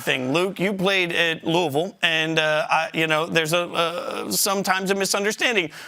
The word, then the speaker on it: Louisville: You just do it fast, So I know you guys know about pronouncing tough names, but it's just Louisville. And if you say it quick, nobody knows the difference.